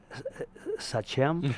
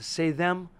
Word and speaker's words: Sachem: so yeah when I called him I said such him he said say them I am the only person who ever there's